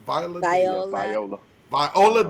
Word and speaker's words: Viola Davis: Viola Davis.